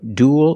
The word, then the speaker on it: duel: The first one was cruel, then grl, also duel, and fuel. We see with the first three, they're pronounced pretty much the same. Cruel, grl, and duel. They all have the ooh sound plus a dark l.